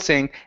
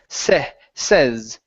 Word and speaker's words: says: Now, with this word, instead of using a short or sorry, a long a sound saying. Okay, it's going to be a short e says. Try that.